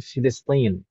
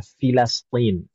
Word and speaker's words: Filastin: Sebagian orang Arab bilangnya Filistin. Tapi mungkin yang lebih tepatnya adalah Filastin. Filastin. Itu kalau yang betul-betul lahjah pengucapan yang betul.